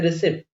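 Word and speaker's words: receipt: Okay, ये फिर random कुछ कुछ जगह पे एक्सेप्शन मान सकते हो आप लोग, जैसे रिसिप्ट, इसको रिसिप्ट नहीं बोलते हैं, रिसिप्ट बोलते हैं।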